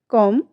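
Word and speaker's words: comb: यू एम बी डम आप यहां पर देखिए ये चारों ही स्पेलिंग्स में हमारे लास्ट में बी तो पुट अप किया गया है बट जब हम इसे प्रोनाउंस में रख रहे हैं तो इस इन सभी में हम बी को कहीं भी प्रोनाउंस नहीं कर रहे हैं।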